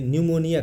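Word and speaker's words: pneumonia: dash है ये ये न्यूमोनिया का है देखिए न्यूमोनिया जो होता है पी से शुरू होता है जहां पी साइलेंट होता है पी के बाद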